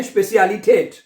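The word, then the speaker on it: Spezialität: स्पे, स्पे आ जाएगा, ई को ए पढ़ते हैं, स्पे, आगे सी, स्पेसी, स्पेसी हो गया ना, ठीक है। आगे चले, स्पेसियालिटेट, ये ठेठ हो जाएगा, स्पेसियालिटेट।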